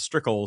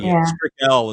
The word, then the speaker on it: Strickel: People assume it's L because strickle sounds like L. Strick Lel is probably how I should pronounce it, but there's very few strickles in the world, especially in the United States.